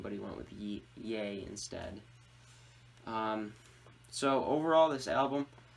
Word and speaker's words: Ye: album titled ye gay yay that's how it's pronounced da ye or I